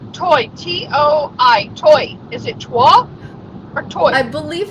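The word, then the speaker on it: Toi: Toy.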